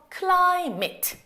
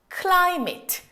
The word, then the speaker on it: climate: 우리 아까 전에 요거 할 때 어떻게 했어요? vit으로 그냥 퉁쳤잖아요. 이거 앞에 m 붙었으니까 meet으로 퉁치시는 거예요. 그래서 climate, 기후라는 뜻을 가지고 있는 climate.